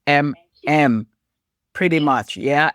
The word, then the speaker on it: Emem: A lot of people don't pronounce it, but it's pretty straightforward. EMEM is MM.